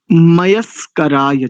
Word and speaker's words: मयस्कराय: ओम नमः शंभवाय च मयो भवाय च नमः शंकराय च मयस्कराय च। इसमें दंत्य सकार है, प्रायः करके इसका अशुद्ध उच्चारण होता है।